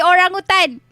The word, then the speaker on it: orangutan: __ ] why because it was supposed to be orangutan it's like like you